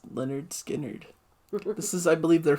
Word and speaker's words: Lynyrd Skynyrd: Yeah, the album I think is called Pronounced Lynyrd Skynyrd.